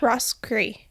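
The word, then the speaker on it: Roscrea: I definitely said that wrong. You said it right. Did I? Rosa. Rosree.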